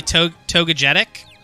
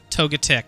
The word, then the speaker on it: Togetic: toga P right so to be togegetic I think it's toga tick oh wait am I adding an extra syllable Togetic yeah you're right yeah